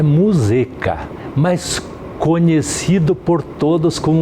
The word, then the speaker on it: Muzeka: Na verdade, a pronúncia é Muzeca, mas conhecido por todos como Muzeca, e assim até eu mesmo adotei como Muzeca.